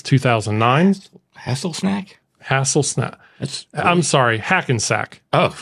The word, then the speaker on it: Hackensack: I'm sorry, Hackensack. Oh, say. Hasselsnack.